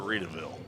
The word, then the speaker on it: Readyville: say it wrong I it's spelled readyville but I think he calls it raville so that's why I wrote it was raville because that's the way he said it but he changed